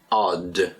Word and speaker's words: odd: And the next word is odd, and again, pronunciation odd. Get that D sound at the end. It's O-double-D, O-D-D, odd.